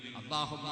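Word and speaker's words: اللهم: വല്ലാത്ത ബഹുമാനം വേണം അതുകൊണ്ടാണല്ലോ അല്ലാഹുമ്മ എന്നല്ലേ എഴുതുന്നത് അള്ളാഹുമ്മ എന്നല്ലേ പറയുന്നത് ലാം അല്ലേ എഴുതുന്നത് പക്ഷേ ലാം അല്ലല്ലോ ഉച്ചരിക്കുന്നത് അതേ ലാം തന്നെയാണ് പക്ഷേ ആ ലാമിന്റെ ഉച്ചാരണത്തിൽ ലാം ഉച്ചരിക്കുന്ന അതേ സ്ഥലത്തും തന്നെ ഉച്ചാരണം പക്ഷേ അള്ളാഹുമ്മ എന്നാണ് പറയുന്നത് അള്ളാന്റെ പേരിൽ ഒന്ന് പണ്ഡിക്കാനാണത്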